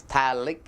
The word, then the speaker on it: phthalic: My name is phthalic acid. So, your name is phthalic acid. P is silent.